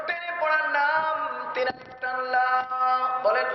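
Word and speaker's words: لا: জোরে বলেন কি বলা লা তিন আলিফ টান কয় আলিফ লা কয় আলিফ তিন আলিফ বলা হয় তিন আলিফ উচ্চারণ করার পদ্ধতি আমাদের মুরুব্বিগণ আমাদেরকে শিক্ষা দিয়েছেন তিনটা সোজা আঙ্গুলকে একের পর এক বাঁকা করতে যতক্ষণ সময় লাগে তিনটা বাঁকা আঙ্গুলকে একের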